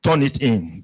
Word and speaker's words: Turnitin: I mustn't forget the Turnitin that you acquired for us. When I first came across the word Turnitin, because I'm a Yoruba